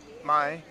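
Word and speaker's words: ไม่: dog to somebody you could say this is my pet dog my pet my pet is how you say no spice and ty it's easy my is the word for none or no my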